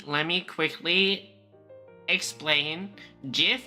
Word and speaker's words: GIF: me quickly EXP expain GIF is pronounced GIF because that's what the Creator said and because it sounds better but before I'm going